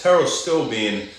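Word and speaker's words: Pterostilbene: Teros still bean is one of them. Spelled with a silent P in the beginning if you want to look it up.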